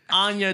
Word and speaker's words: Anya: I thought her name was Anna. I don't know how to pronounce it. Anna. No, it's Anya. Anna, it's Anya. Is it Anya? I think it's Anya.